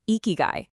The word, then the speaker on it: ikigai: First off, it's pronounced ikigai, and the true definition is astonishingly simple.